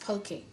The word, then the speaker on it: poke: said to you before that is spelt p-o-k-e but pronounced pokey i have all my